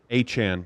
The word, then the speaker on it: Achane: George, Achane or Achan? Achan. It is Achan.